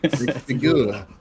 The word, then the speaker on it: X-Figura: Actually, am I pronouncing it correctly, Daniel? I've heard it's more like it's xFigura. Like a little Figura. xFigura.